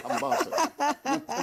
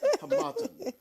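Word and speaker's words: Harmattan: Hamatan. You took it from me that day. I beg you. I like that. Hamatan. The stress is on the second syllable.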